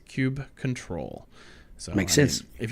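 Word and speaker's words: kubectl: on kubernetes 1.9 that the canonical pronunciation of coop CTL is cube control so make sense if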